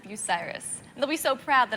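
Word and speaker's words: Bucyrus: People usually pronounce it Bucky Risk, but it's pronounced Biryus.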